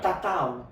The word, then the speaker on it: tatau: and they hear the word, the Tahitian word, tatau. Tatau is the Tahitian word. Tatau. And it becomes tattoo because he cannot pronounce it correctly, so it becomes tattoo.